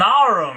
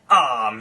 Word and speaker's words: arm: "It's an arum, your honour." He pronounced it arum. "An arm, you goose!